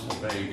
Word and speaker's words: Lebesgue: provinces, northwestern provinces of France, and that it's pronounced Lebesgue, which I was glad to hear because I've been saying that for 40 years.